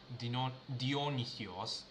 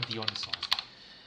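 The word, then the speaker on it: Διόνυσος: Dionis Dionis use whatever that's how the Americans or the western people call but in Greek you pronounce it as dionios something or dionos Anyway, let's get clone this repository.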